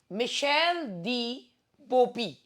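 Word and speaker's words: Michel de Beaupuy: माइकल नहीं है ये, मिशेल फ्रेंच वो व्यक्ति थे ना, फ्रेंच व्यक्ति से जो है आप सबसे पहले देखिए, मिशेल दी बोपी, मिशेल दी बोपी। तो ये मैं इसका प्रोनाउंसिएशन, क्योंकि फ्रेंच प्रोनाउंसिएशन, मिशेल दी बोपी जो हैं ये थे।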